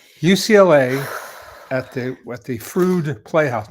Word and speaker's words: Freud: UCLA at the at the Frude Playhouse, not Freud, spelled like Freud, but Frude Playhouse, you know, Frude put on a series.